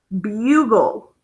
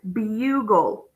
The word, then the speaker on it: bugle: a syllable by itself so it's an open accented U so it's bule so now everybody should read that word right bule okay okay get up